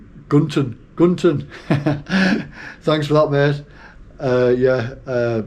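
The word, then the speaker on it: Cần Thơ: from Hat Yen to Cantor, and I know I've been given the proper way to say Cantor as well. I think it's Gunton.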